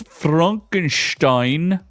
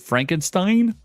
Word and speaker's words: Frankenstein: Next, we have Netflix's Frankenstein. They don't even say it right. They say, oh, is it Frankenstein? No, it's Frankenstein.